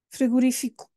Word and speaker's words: frigorífico: silba seria friguri friguri frigorífico eu nem sei dizer bom seria no Fi e não no ri frira frira Este é